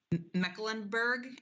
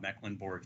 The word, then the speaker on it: Mecklenburg: yes i i am my name is mecklenburg the pronunciation was uh was spot on i am in-house counsel